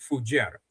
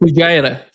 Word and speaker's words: Fujairah: Moreover, what they hit in the UAE is the the pipeline and the port of Fujairah. Am I Am I pronouncing that correctly? Fujairah. Fujairah.